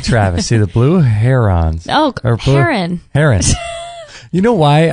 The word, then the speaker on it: Heron: so this kid was uh Jason uh har Haron they called him and it was h e r o n and so every time during roll call they